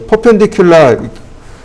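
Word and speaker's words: perpendicular: 퍼펜디큘라, 퍼라고 읽을 건가요? 그건 아니죠. 퍼펜디큘라라고 읽어야 되겠죠.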